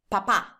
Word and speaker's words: papà: Whenever you have a word that has the accent on the last vowel, that means that you have to stay a little bit longer on that vowel. So it's important that you pronounce this word this way, like this. Papà. Papà. Can you hear that I'm staying a little bit longer in the second A?